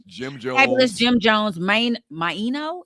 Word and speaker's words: Maino: Fabulous Jim Jones, Maino. Is that how you say his name? Mano, because his name is Jermaine.